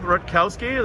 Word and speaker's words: Rutkowski: Dan Rutkowski. Am I pronouncing that right? Yep, Rutkowski. that's right.